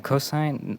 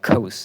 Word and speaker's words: cos: Cosine. No, I've been like pronouncing this over and over again. but it's like cos, not cosine.